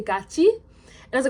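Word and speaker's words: 같이: contains the sound e, the digut becomes pronounced as jiut, and the tigut becomes pronounced as chiut.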